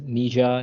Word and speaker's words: Nietzsche: that is Frederick nishe so it is Nija ni I don't know you yeah it's quite hard to pronounce with all those letters in it it's a KN CH uh like you were talking about your knee and then you were saying the first part of chair so n yeah his full